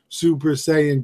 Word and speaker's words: Super Saiyan: somebody was selling a tell me if I get if I say it right a super sa a Super Saiyan statue super saiyan you got it right super san right of